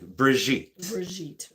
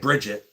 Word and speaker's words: Brigitte: Very classy, like Brigitte. Okay, well. Not like Bridget.